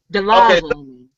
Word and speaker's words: Dolezal: It's pronounced Rachel Delazo.